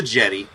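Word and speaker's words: La Jetée: I don't speak French it's the jetty it's Jetty yeah so but this wasn't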